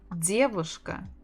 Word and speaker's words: девушка: Девушка, девушка, девушка, девушка, девушка. The stress on the first.